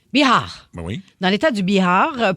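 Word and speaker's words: Bihar: Biar mais comment tu le prononcerais ? B I H A R Biar Biar.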